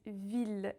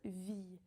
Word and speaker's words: ville: We pronounce the L in it, ville, and not vie. Because actually, if we did say vie, it would sound like the word la vie, life. So we pronounce the L, ville.